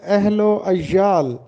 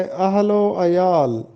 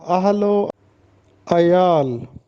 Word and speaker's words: اہل و عیال: ہے، بما غلط ہے، اور اس کو ہم پڑھتے ہیں اہل و عیال، جو کہ غلط ہے۔ درست تلفظ ہے اہل و عیال، اس میں شد نہیں آتا، اہل و عیال۔ نیکسٹ جملہ ہے، خدا